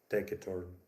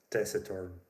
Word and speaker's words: taciturn: adjective is pronounced like taciturm. And I was heartbroken when I learned that English speakers pronounce it as taciturn. Right? Terrible change. It's a It's a soft c.